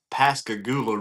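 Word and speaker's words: Pascagoula: So um Yakabas that's the Pascagula River is how you pronounce that.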